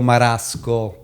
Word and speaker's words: Marasco: Spell it for me so we know you. Pio Marasco.